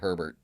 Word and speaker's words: Herbert: The H is silent. Herbs. Um Unless you're talking about Herbert.